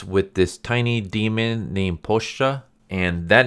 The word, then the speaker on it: Pochita: I always pronounced it as Pochita because it's spelled that way, but in the anime, Denji calls him Pochita, so I'm assuming that's how you pronounce it.